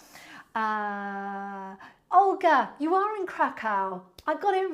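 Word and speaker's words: Kraków: you thank you uh Olga you are in krackow I got it right I was trying to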